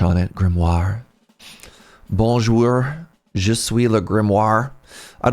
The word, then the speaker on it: grimoire: How do I pronounce this word? I always want to say grimoir. It's grimoire.